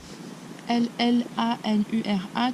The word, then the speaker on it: llanura: L-L-A-N-U-R-A, tu dis Llanura. La llanura. La rida llanura. La rida llanura. Llanura. Et si tu vas aller plus vite, prononce-le comme un Y.